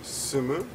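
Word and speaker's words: 住む: The pronunciation here is sumu, right?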